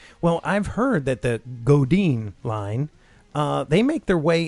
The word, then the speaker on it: Godin: Is it Godin or Godin? Godin. I always pronounce it Godin. It's French, so it's probably Godin. Godin.